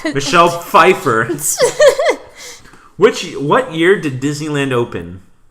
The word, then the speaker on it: Pfeiffer: No, okay, your choices are Michelle Pfeiffer. Is it really spelled with a P? Is Michelle Pfeiffer spelled with a P? That really? That still makes sense.